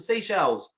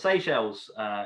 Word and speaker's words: Seychelles: Victoria is the capital of the Seychelles, or the Seychelles, if I'd say it properly.